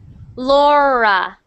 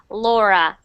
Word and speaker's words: Laura: good next one Lura Laura Laura Laura Laura good that R sound just make sure it's not rolling so what you said now was perfect Laura one more time Laura